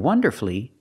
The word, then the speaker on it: wonderfully: Well, if I look at masterfully, beautifully, and wonderfully, we have two syllables before the F-U-L-L-Y, but the stress is on the first syllable.